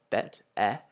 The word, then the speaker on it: bête: And then we have bête, where it makes the same sound as in mer, bête, whereas the parler makes an